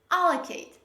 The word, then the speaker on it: allocate: Majority of English learners, they usually pronounce this word like allocate, allocate. No, this is not pronounced like allocate. The correct pronunciation of this word is allocate. Say with me, allocate. Don't say allocate. No, this is not allocate. This is allocate.